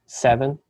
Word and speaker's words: Seaven: Yeah, the brand name is called Seven, but you kind of spell it like heaven, you know, SEAVEN.